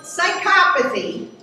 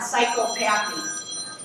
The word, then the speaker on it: psychopathy: Okay, so psychopathy, that's the correct pronunciation, not psychopathy, it's less than maybe 1% of all people that have hardwired brains, and maybe 1 to 2%.